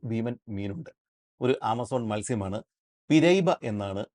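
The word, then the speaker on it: piraíba: മീനുണ്ട് ഒരു ആമസോൺ മത്സ്യമാണ് പിരൈബ എന്നാണ് ആ മത്സ്യത്തിന്റെ പേര് പിയാബ എന്നൊക്കെ ഇതിനൊരു ഉച്ചാരണം ഉണ്ട് പക്ഷേ പുറം രാജ്യങ്ങളിൽ ഉള്ളവർ കൂടുതലും ഉപയോഗിക്കുന്നത് പിരൈബ എന്ന് പറഞ്ഞ ഒരു ഉച്ചാരണമാണ് പേരാണ് ഈ പിരൈബ മത്സ്യത്തിന്റെ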